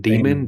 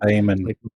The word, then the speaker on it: Damon: I don't know how to pronounce that word. I seen it my whole life. What is it? Demon. Damon. Damon. Like Matt. Damon. Damon. Damon. Damon as in Matt.